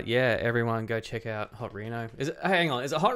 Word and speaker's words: Hot Reno: I think there was a stage when we first started playing, like before we played, I'm like, hey, we're Hot Reno, not Reno, not Rhino.